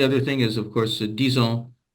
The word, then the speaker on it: disons: Yeah, the only other thing is, of course, disons is pronounced as if it's a Z as Ah, well.